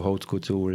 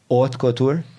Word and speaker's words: haute couture: But jgħidu haute couture is a special category fej involvi ċertu sijat ta' xogħol.